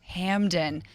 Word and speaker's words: Hamden: Hamden.